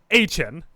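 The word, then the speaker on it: Etienne: Travis ETN or Travis Hen said this. They can very easily ask his brother. Yeah. Trevor, which they did, and he confirmed it is pronounced Ain.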